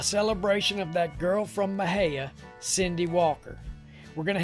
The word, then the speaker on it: Mexia: the word is spelt m-e-x-i-a and therefore should be said out loud like mexia but that ain't the way it's done down here in texas it's pronounced mahaya that way if a